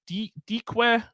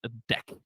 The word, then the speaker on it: deque: Isn't that, couldn't it be like deque? Well, let me tell you, it's the only, I think, the only class in the Kotlin standard library that comes with a pronunciation guide. It is usually pronounced deque.